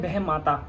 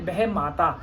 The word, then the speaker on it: बहमाता: उसको बोलते हैं बह माता। हमारे हरियाणा में बोलते हैं बहमाता। बाकी शुद्ध उच्चारण इसका है बहम माता।